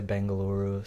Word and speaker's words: Bengaluru: like- I mean, they're pronounced a couple different ways. So some people say Bengaluru, some people say Bangalore. So it just depends.